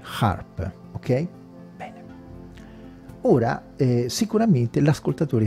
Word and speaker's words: HAARP: manco vi è e si chiama harp si scrive h a a RP harp Ok bene Ora sicuramente